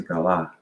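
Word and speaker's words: גלה: Let me make sure I'm pronouncing this word right. It is galah, right?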